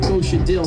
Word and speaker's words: Kosha Dillz: You know I'm Kosha Dillz, simple. K-O-S-H-A-D-I-L-L-Z, rhymes with a pickle, it is simple.